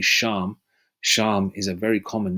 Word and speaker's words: Shem: East Indians that's why the name Shem or pronounced in the Hebrew would be sham sham is a very